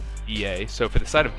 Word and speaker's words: B.E.A: from my sources that they would like to be pronounced B.A, even though that's not how they spelled it out. They want to be called B.A.